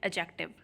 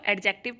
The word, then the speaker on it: adjective: आज हम लोग करेंगे 16th चैप्टर, जिसका नाम है एडजेक्टिव। इसमें कुछ लोग इसको एडजेक्टिव पढ़ते हैं, लेकिन इसमें डी साइलेंट होता है, इसको एडजेक्टिव पढ़ते हैं।